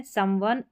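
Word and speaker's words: someone: इसका उच्चारण है समवन, SOME फिर ONE, वन, समवन।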